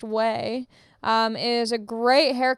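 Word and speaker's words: Ouai: a little gift um way o a u i pronounced whey um is a great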